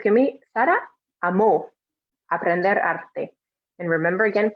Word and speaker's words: amó: So it's going to be Sara amó aprender arte. And remember, again, pronouncing that O strongly, because otherwise it's amo. And amo means I love, but we're trying to say Sara loved.